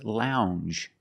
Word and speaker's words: lounge: And this word is lounge. Lounge. It makes the regular N, plus the J. Lounge. It follows the same pattern as orange and change. J. It's a regular N, plus the soft J sound.